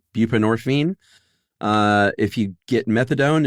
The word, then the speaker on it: buprenorphine: Buprenorphine. Bupinorphine.